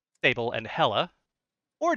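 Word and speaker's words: Hela: and then Sable Sable and hella hella like like that's hella good uh in my notes it is spelled h-e-l-a don't have any notes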